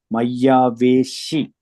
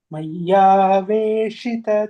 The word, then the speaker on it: मय्यावेशित: You have to pronounce as a she, like a she, shita. Maya veshi, not si. Shita chetasam. Yes. Mayyaveshita chetasam.